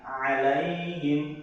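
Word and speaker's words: عليهم: Hamzahnya tadi a antara ain, alaihim, alaihim. Jadi jangan kita nyebutin alaihim seperti hamzah, gitu ya.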